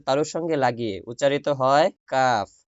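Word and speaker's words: ق: ওই জিহ্বার গোড়ার উপরে বরাবর উপরে যে তালু, ওই তালুর সাথে জিহ্বার গোড়া লাগান। লাগানোর পরে উচ্চারণ করেন কফ, কফ, কফ।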